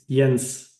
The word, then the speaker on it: Jens: Is it pronounced Jens or Jens? It's Jens.